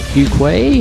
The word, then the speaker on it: Fuqua: personal Healthcare reform talk show I am cuay you can catch up with me on